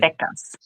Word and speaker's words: Decas: Decals because it means 10 decas. Decas like a decade.